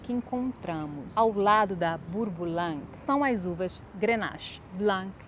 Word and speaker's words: Bourboulenc: E tem um nome que eu adoro pronunciar, Bourboulang.